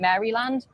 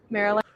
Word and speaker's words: Maryland: So, so yeah, um they have the original states on the same Delaware, Maryland, which I've been pronouncing wrong. I keep calling it Mryland. Maryland.